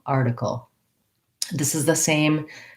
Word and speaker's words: article: of a flap so in american english the t in the middle of words often sounds like a d so i'll rewrite that as a d because that'll help your brain to get that pronunciation rather than article with a puff of air it's a light tap up with my voice on article article this is the same